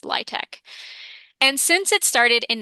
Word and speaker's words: LIHTC: the acronym or LIHTEC spelled out l i h t c, but pronounced LIHTEC.